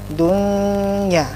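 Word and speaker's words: دنيا: Contohnya dunya, nun mati, ke dunya, nun mati ketemu dengan ya, tidak bacanya dunya, karena ini satu kata jadinya jelas dunya, ya.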